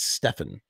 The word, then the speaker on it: Stephen: Because some people say Stephen King, like you'd say Stephen King. But I think the phonetic pronunciation is Stefan.